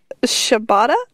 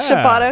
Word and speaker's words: Shibata: The contenders were Shibata. I think it was Shibata, because I remember it rhymes with ciabatta bread.